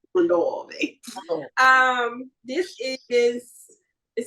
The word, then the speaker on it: Mondavi: Mondavi.